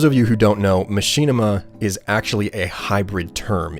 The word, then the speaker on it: Machinima: why do you say Machinima as Machinima okay I don't know how many of you are aware of this but Machinima is actually the improper pronunciation that being said it's